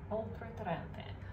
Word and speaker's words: Oltretorrente: And then the producer is, I've written it down, for some reason I'm struggling to pronounce it, Oltretorrente. Oltretorrente.